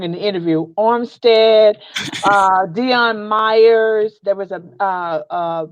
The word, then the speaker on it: Armstead: amazing there was Darren Woodson there was Jesse armed armed I said his name wrong in the interview Armstead Dion Meyers there was a basketball coach of